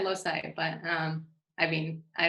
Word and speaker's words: loci: checked that on the i checked that on the cambridge dictionary the pronunciation in us english is lucy anyway but feel free to pronounce it however you want of course as opposed to somebody i've heard people saying lokai oh oh i would have said loci but um i mean